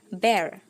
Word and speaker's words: bear: disini artinya beruang ya tapi sebenarnya ini cara pengucapannya adalah Bear nah jadi seperti ketika teman-teman mengucapkan kata ember nah disitu hampir sama Amber jadi Bukan bir ya kalau begitu lebih ke minuman beralkohol tapi